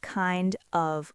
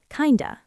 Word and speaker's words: kind of: We do not say kind of like We drop the F sound in of, and we link the D to the schwa sound. Kinda, kinda.